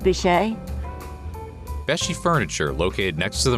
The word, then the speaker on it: Beachy: I think it's pronounced Beach. Maybe it's Besh. Welcome to Beshi Furniture. So that's how you say it.